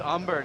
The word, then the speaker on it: Umber: 3-2 for karina umber oh it's umber not amber okay we've also gotten